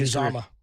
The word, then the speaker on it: Uzomah: There's right, by the way, it's Uzomah.